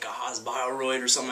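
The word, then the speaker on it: Haas-Bioroid: There's no accent on Haas Byroid. You can say it. Haas Byroid. Yeah. That's what it's called. You don't have to say it like yeah.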